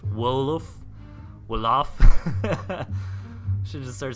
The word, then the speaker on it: Wolof: Wolf. Is that how you're supposed to say it? Wolf? You gotta really pronounce that L to not get made fun of. Wolof.